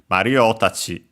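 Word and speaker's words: マリオたち: add that is that the accent is on the syllable before tachi itself. So yeah, in our case on the O, Mario tachi. Low, high, high, and then low for the tachi itself.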